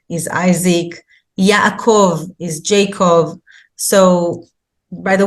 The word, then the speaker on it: Yaakov: So that's why it's very important to learn the names by their real pronunciation. So Moses is actually Moshe, Avraham is Abraham, that's close, but Yitzchak is Isaac, Yaakov is Jacob.